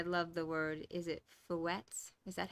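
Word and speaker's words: fouetté: And I love the word, is it fouettes? Is that how it's pronounced?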